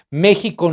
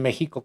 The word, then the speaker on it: México: mexica en ese entonces la x se se pronunciaba como sh como ese h y los españoles la pronunciaban como J De hecho hay algunos que eh que escribe en México con j México México yo cuando viví